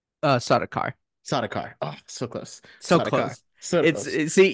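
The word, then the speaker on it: Sardaukar: traes was attacked by the heinens and the saradar did I pronounce that right uh sakar sakar oh so close see you need that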